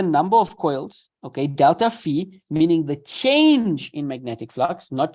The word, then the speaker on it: Phi: a one of the greater letters it is pronounced as Phi as in Phi okay so Delta Phi uh is changing magnetic flux okay and delta